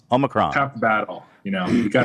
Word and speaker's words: Omicron: I would say, first of all, that saying it right, it's Omicron. Omicron.